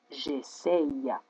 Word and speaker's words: j'essaye: Si je garde le Y, dacă păstrez Y-ul, je dois prononcer j'essaye. J'essaye.